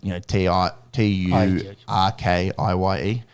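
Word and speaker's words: Türkiye: or English or whatever, they say it Turkey now, like Turkiye. That's the food. Yes. Well, I don't know. Or the bird, I mean. Well, it's how you say it in Turkish.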